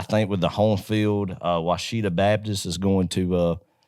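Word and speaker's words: Ouachita: Yeah, Washita.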